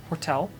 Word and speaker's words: Jortel: The names are Hortel, spelled with a J, Jortel, and Quenya.